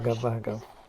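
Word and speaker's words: भग: Is it Vaga or Bhaga? Oh, well, I'm probably saying it wrong. You'll learn, Julia. My Sanskrit is something to be desired. Bhaga. It's Right. Bhaga. It's shorter, but it's bh.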